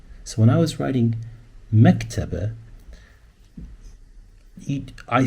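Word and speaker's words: مكتبة: So the word is mektaba, but when you say it, you try to say mek. There's a ke, there's a te, mektaba. There's a b, definitely. There's a b, and there's that sound at the end.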